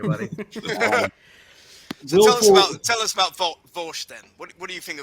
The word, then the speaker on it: Vaush: It's Vosh, but for some reason, people who don't like him, there's like a meme that they always call him Vaush. Yeah, so it's spelled Vaush.